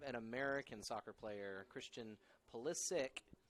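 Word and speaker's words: Pulisic: player Christian polis sick which is spelled with a C and I think his family's Serbian and normally it would be pronounced with a CH but he decided he wanted to quote unquote American eyes it so he goes by that and that is literally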